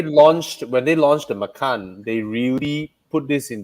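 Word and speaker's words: Macan: for for tiger yeah but i believe they pronounce it as makan they they i believe they refuse to pronounce it as matan so yeah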